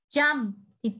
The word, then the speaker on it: jumped: Khi từ jump mà sang jump thì chữ ed này đọc là t, jump t. Ok, đuôi ed đọc là t. Không được đọc là jumped nhá.